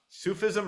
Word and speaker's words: Sufism: Sufism or suffism? Oh, Sufism. Yes.